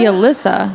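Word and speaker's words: Allysa: listen to it but it's supposed to be Alysa it's Alysa with an AA okay good to know now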